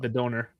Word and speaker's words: Döner: one, finish but off because yes, yeah, the donor, whatever. There's different Döner. pronunciation. Döner. Donor. That's right. You're saying it the German way. Döner. Duna.